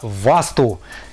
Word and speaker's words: васту: Вообще правильно я произношу васту?